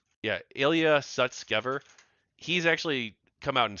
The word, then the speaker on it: Sutskever: former co-founder actually the co-founder of openai uh Ilia Susker let me say his name right yeah Ilia Sutskever He's actually come out and said that he